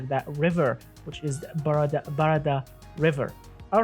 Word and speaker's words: Barada: or for an SUV, the Barada, or Barada actually. That's the correct way to say it, Barada.